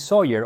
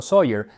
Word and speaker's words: Soyer: Además, esta es en realidad la segunda receta para el Spotted Dick que Alexis Soyer o Sawyer, dependiendo de cómo quieras pronunciarlo, puso por escrito.